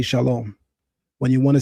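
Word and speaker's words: שלום: the Hebrew word for peace, I say shalom. The masses of Israelites will say shalawam.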